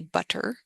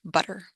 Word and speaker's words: butter: carefully I would say butter when we speak quickly we turn that t in the middle into something much more like a d butter as opposed to the